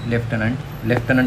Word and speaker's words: Lieutenant: लेफ्टनंट असं pronouns करतात, पण स्पेलिंग कशी आहे, LIEUTENANT. कर्नल असं म्हणतात, पण इथं र नाहीचं स्पेलिंगमध्ये, COLONEL, कॉलोनल.